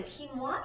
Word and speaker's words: quinoa: Quinoa is a grain from South America. It's actually spelled Q-U-I-N-O-A, but it's pronounced quinoa, and it's simply delicious.